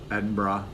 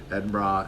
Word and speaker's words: Edinburgh: Manchester Oxford Nottingham Birmingham Edinburgh learned I was pronouncing that wrong ed bra and there may be